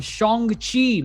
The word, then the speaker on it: Shang-Chi: of the yonko table and our review of shongxi make sure you pronounce it right and the legend of the